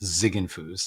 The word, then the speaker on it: Ziegenfuss: that's okay i i it gets pronounced a lot of different ways but it's really just zigging foos it's a nice german name yep that's what i